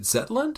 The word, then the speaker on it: Zetland: I was gonna read just a couple selections from Niels' essay you wrote for is it Zetland?